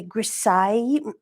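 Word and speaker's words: grisaille: it's really important uh the grassai it Rhymes by the way with Versailles and which is all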